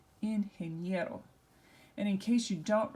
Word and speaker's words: ingeniero: And so which syllable is going to be emphasized? Well, it's going to be the next to last syllable. So we'll just go here and make sure we emphasize this. So this is ingeniero.